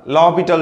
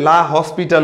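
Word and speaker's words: L'Hôpital: উপরে এরকম একটা থাকে যার জন্য এস এর উচ্চারণ হয় না লবিটাল রুল তো আমরা অনেকে এটারে লা হসপিটাল বলি আসলে দিস ইজ নট লা হসপিটাল লা হবিটাল রুল তো লবিটাল রুলটা একচুয়ালি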